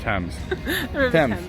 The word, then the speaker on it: Thames: the teams river thames thames it's a weird way saying it james that's how you say it times pens thames yeah